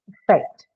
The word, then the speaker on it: affect: Affect. So, the second syllable is stressed here for two reasons, but the most important reason is that the first sound is a schwa sound, hence it cannot take a stress on itself.